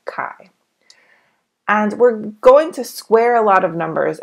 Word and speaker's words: chi: it should be pronounced Chi but it is pronounced Kai and we're going to